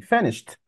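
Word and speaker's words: finished: انتهيت من القصه دي فنشت والدي بتنطق تي فنشت لما توصل خمسه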